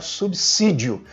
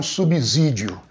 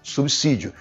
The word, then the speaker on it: subsídio: Depois do prefixo sub, a letra S tem sempre o som de C, nunca de Z. Então, o certo realmente é pronunciar subsídio e não subsídio.